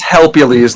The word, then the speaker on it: Helpules: His name is Helpules, like Hercules.